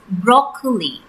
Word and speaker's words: broccoli: The right pronunciation for this word is broccoli.